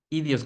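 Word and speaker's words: ἴδιος: palabra griega y Dios idios con acento en la i esir latina en acento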